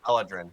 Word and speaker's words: Eladrin: I don't know why I can read it in my head, but I can't pronounce it out loud. Because you're Canadian. Eladrin.